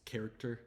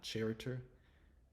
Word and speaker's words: character: just remembering the word so it's character not charer there's no way to